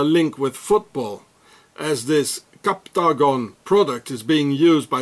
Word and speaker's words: Captagon: So here it says Captagon, it's like octagon, Captagon, it's the same.